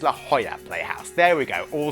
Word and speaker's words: La Jolla: And they corrected my pronunciation. It's not La Jolla Playhouse, it's La Jolla Playhouse.